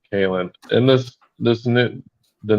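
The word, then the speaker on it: Kahlan: ill means so uh colin all right i'm sorry it's not colin kaelin in this this new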